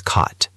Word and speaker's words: caught: The past of catch is caught. C A U G H T. It has a long O sound.